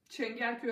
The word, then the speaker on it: Çengelköy: It's called Çengelköy, and this is how it's spelled.